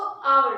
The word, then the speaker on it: hour: एन art, spelling क्या है देखो, HOUR, लेकिन मैंने पढ़ा क्या उसको? आवर, क्योंकि एच जो है वो इसमें क्या है? साइलेंट है।